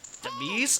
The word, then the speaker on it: Demise: It's pronounced like prepare to meet your demise.